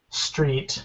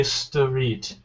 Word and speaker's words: street: This one has three. Uh that's just one syllable and just one sound. This is one. Yeah, this is one syllable. So do not say stoit. Yeah. If you say sit, that's three syllables and you will not be understood.